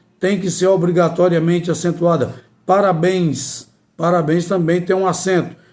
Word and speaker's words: parabéns: Então, a sílaba mais forte é exatamente a última.